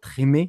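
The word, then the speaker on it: Treme: Qui a joué après dans Trimmy, donc Trimmy, hein, prononcé à la française, sur la Nouvelle-Orléans, c'est exceptionnel, et ouais, j'adore ce mec, et c'est top, voilà.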